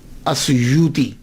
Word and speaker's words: السیوطی: ایک ہے السیوطی، آسویوتی، الف کے اوپر زبر، شروع میں الف ہے، السیوطی، ابن القطب اور الشاذلی، یہ 3 ٹائٹل ہیں۔ یہ جو السیوط ہے نا، اس کے تلفظ میں 2 باتیں قابل غور ہیں۔ پہلی بات تو یہ ہے کہ اکثر الف چھوڑ جاتے ہیں، سیوطی کے علامہ جلال